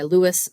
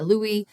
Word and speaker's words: Louis: the 16th and uh so in French he would have been Louie uh or Louie is the best English approximation of of that word and we have the